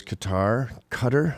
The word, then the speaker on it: Qatar: So is Qatar, I guess you're supposed to pronounce it.